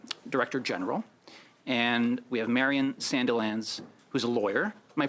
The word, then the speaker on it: Marion Sandilands: We have Sylvia Martin Laf who's the U director general and we have Marian Sandelands who's a lawyer. Am I pronouncing your name correctly?